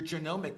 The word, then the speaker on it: genomic: You have to take all of your healthcare data, your diagnostic data, your electronic health records, your genomic data.